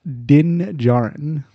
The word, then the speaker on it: Djarin: It is pronounced Din Djarin. That's right. I should have known that. I knew his last name started with a J. Or J sound. I don't know how it's spelled. I hate to break it to you, but his last name actually is spelled DJ.